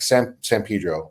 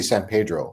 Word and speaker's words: San Pedro: When in the city we grew up in, like San Pedro, or so people are like, why don't you say San Pedro? You can pronounce it Pedro, but I'll know you're not from there.